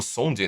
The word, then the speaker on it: Szondi: Ou seja, você tem, por exemplo, o Leo Sondi, né? Psiquiatra húngaro, ele se escreve Szondi, né? Mas esse Z não se pronuncia.